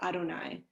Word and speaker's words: Adonai: we say israel adonai so we pronounce this word that you see in hebrew on the screen as adonai meaning lord um but that